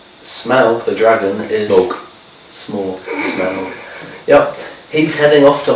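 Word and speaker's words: Smaug: um desolation of smell smell is apparently how it's pronounced um smell the dragon smoke small smell yep he's heading off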